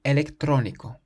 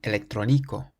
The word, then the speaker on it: electrónico: The word for electronic has an accent on the O in the middle of the word, so we say electrónico.